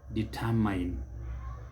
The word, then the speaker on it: determine: is determined determine determine note that the stress is on the second syllable determine and it is never determined determine determine that word